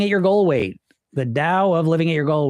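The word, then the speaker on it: Tao: The Dow of Living at your goal weight. The Dao of Living at Your Goal Weight. T AO. And it's pronounced with a D, though, so yes, it is there.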